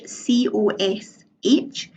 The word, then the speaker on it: cosh: X is equal to one now this cosh cos H that's the hyperbolic cosine and that's pronounced cosh and similarly we've got same age